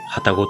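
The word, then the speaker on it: 旅籠: 旅にカゴと書いて旅籠と読みます。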